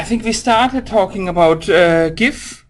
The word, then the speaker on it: GIF: we started talking about gif or officially it's supposed to be pronounced chief look okay so how